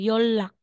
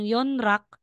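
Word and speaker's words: 연락: sasabihing shinra magiging shilla ito din po yon rock ' ba po yon rock eh si neon followed po siya ni real so real po yung bigkas natin L so magiging yolak Instead na sasabihin mong yon rak magiging yolak kapag po si final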